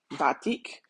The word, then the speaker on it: batik: you pronounce it bti in Trinidad we say batik um so they're 5x5